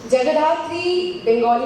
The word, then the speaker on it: Jagadhatri: Jagadathri, Bengali में अगर बोलूँ Jagadathri, being a Bengali, I would want to pronounce it that way, is जैसे show का